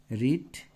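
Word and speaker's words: read: এ ডি E mate রিড এটার পাস্টের উচ্চারণটা হচ্ছে রেড পিপির উচ্চারণ রিট রাইট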